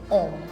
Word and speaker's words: homme: Now, H sounds like ash in the alphabet, but in the word, it is silent because H is considered a vowel in French. So, we how will we pronounce this word? We'll say homme.